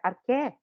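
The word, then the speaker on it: arché: Porque o CH em grego você lê como que?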